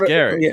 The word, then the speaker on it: Gerry: jary yeah yeah because your first name is spelled g e r r y but it's pronounced Gary out yeah can can